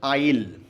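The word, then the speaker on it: I'll: Remember, I विल का contraction है आइल, pronunciation is आइल। Okay, I विल do that.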